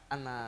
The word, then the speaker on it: ana: Jawa yang sekarang ee ono kan jadinya Ana Ana nulisnya kalau pakai Alfa huruf alfabet itu kan Ana Ana tapi secara pembacaan dan pelafalan ono Ono ono itu namanya am mengo a terbuka Oke jadi dipengaruhi oleh